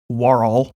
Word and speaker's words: Worrell: tales with clear storytelling host Charlie Worrell pronounced Worrell oh